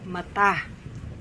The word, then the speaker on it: mata: Teacher ako hindi ba mata mata accent on the second syllable mata mata Correct